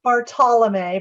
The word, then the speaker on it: Bartolome: We've got Kimberly Clark-Sharp, Jose Hernandez, Barbara Bartolome, and I think I'm pronouncing Bartolome correctly. Am I Barbara? I'm pretty sure. It's Bartolome, but that's Bartolome.